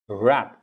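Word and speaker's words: wrap: Rap. It's R. R. Rap. R-A-P, rap. W-R-A-P, rap. Same pronunciation. Different words. Meaning is different.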